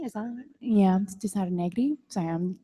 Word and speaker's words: Negri: But what we do have is 100 years later, Cesar Negron, is that? Yeah, Cesar Negri. Sorry, I'm like doing the Spanish pronunciation.